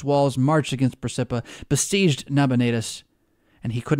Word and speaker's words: Nabonidus: by a general resolution transferred the government to naboda notice huh I said it wrong nabonidus one of the Babylonians who belong to the